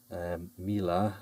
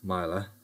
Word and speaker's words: Mila: This is a Mila or Mila lock, depends on how you want to pronounce it.